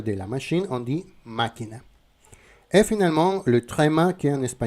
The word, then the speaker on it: máquina: Ça veut dire que tu vas faire le l'intonation dans la syllabe où se trouve le tilde. Par exemple, dans le mot máquina machine, la machine máquina.